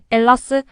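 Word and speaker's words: Ελλάς: 아고 부르길 원하고 있습니다 헬라스의가 무음이 되어 엘라스 혹은 엘라다 아고 발음하는 것이지요 헬라스 헬렌의 후손이라는 뜻입니다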